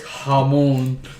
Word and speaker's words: jamón: Anyway, and he says jamón. Thanks for joining us. I mean, no, he is wrong though. That's how you pronounce it.